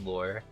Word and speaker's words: Lure: to pronounce it yeah it's just lore like uh like a fish lure a fish a a